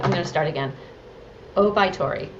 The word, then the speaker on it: Oubaitori: Oubaitori, correct? Oh yeah. Okay. Oubaitori.